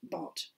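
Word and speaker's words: Barthes: bart comes in and bart um pronounced bart but written uh baths b-a-r-t-h-e-s but he was a frenchman so we pronounce it bot and then the last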